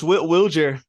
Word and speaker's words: Wilyer: Wilyer Abreu has confirmed once and for all that he does prefer Wilyer pronunciation here in the States.